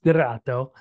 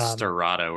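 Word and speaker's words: Sterrato: it's Lamborghini and uh correcting my friends it's stirrato um and they're there will be a Porsche counterpart in the hurricane I feel like I'm over pronunciating it and watching it in the process I said Serato earlier and you were like I said I said Serrato so right me you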